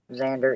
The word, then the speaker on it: Xander: named me Xander, but that doesn't look like how it's pronounced. Xander in English is pronounced Xander.